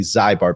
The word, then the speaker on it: Zybar: She it's Z Y B A R, and it's lovely Zybar, but she pronounces it Zybar.